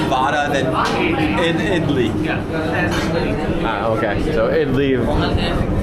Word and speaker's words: idli: That's idli. Okay. So idli. I want to say idol, vidai, and then pongal, but I know the pronunciation is wrong.